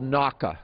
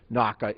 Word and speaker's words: NAWCA: Now, both houses unanimously reauthorized what's called NAWCA. It's the acronym NAWCA is pronounced NAWCA, so I'm going to use NAWCA in the discussion.